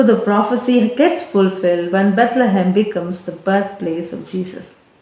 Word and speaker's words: Bethlehem: In Hebrew, the city's name is pronounced Bethlehem.